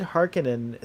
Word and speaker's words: Harkonnen: I like that they said Harkonnen. So I guess Harkonnen's like the. That's the way that Frank said it.